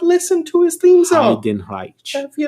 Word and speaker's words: Heidenreich: I'm so happy that you said his, because I have no idea how to pronounce this shit. Yes, Heidenreich. Have you not listened to his theme song? Heidenreich.